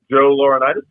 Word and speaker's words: Laurinaitis: Joe Laurinaitis.